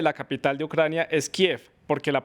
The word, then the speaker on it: Kiev: ucraniano, Kiev, no tiene una forma no tiene grafía en español para ser escrita. Esa es la explicación que dan allí y por eso en español se dice Kiev.